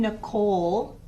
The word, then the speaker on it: Nicole: When I say my name, Nicole, do you hear the E at the end? No.